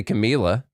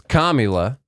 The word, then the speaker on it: Kamala: think of comma okay you wouldn't say Camilla it's comma but just say comma